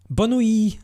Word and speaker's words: bonne nuit: I thought I'd have two viewers and two people actually chatting with me and yeah, bonne nuit. Sorry, the T is silent.